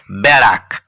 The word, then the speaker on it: ব্যারাক: রয় আকার ক বেড়াক আমি কিন্তু ঠিক উচ্চারণ করলাম না আমাকে বলতে হবে ব্যারাক অর্থাৎ এই যে ব এর আগে যে একারটি রয়েছে এই একারটি আঁকড়ি যুক্ত একার হওয়ার কথা এবং যার উচ্চারণ জ ফলা আকার পরের শব্দটি দেখুন কয়